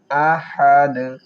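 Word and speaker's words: أحد: ও দুই জবর ওয়ান ওয়ালাম ইয়াকুললাহু কুফুওয়ান আহাদ আহাদ হালকের মধ্যখান থেকে উচ্চারণ করব আহাদ এবং অক করে দালের উপর সাকিন দিয়ে কলকলা করব।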